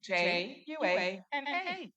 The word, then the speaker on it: Juana: It's spelled Juana, and it is pronounced Juana.